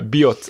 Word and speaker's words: Biot: b iot t but you do pronounce the T you know usually they say you don't pronounce the final letter of French words yeah this is not b not that hard way uh bot and uh there's a